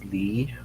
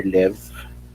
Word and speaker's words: Lev: Ang pag-pronounce is Lee Vygotsky or Lev.